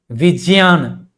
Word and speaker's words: विज्ञान: ज बोलते बोलते हम लोग विजयान वो शुद्ध उच्चारण है। वह सही है। लेकिन उसको हम लोग धीरे-धीरे विज्ञान बोलते हैं।